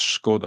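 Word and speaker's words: Škoda: SC and it's and it's pronounced skod I believe okay sorry sorry my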